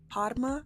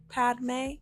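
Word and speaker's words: Padmé: I would say I did like how in the movie Padma's like Padma? What's Padme?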